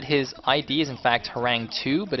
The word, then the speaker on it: Horang2: By the way, you might note that his ID is in fact Harang2, but it's pronounced Harangi because the 2 is pronounced as an E in Korean for some Yeah.